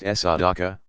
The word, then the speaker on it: sadaqa: charitable donations are called sadaqa pronounced SR Dhaka righteousness uprightness for through